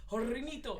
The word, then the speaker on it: Hornitos: You say it like, like Hispanically. Hornitos.